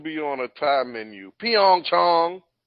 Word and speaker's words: Pyeongchang: what we have watched the pronunciation that we're using for is a for the whole city is Pyeongchang and it's an Americanized pronunciation of Pyong Chong that's how it should be fed now I'm not nitpicking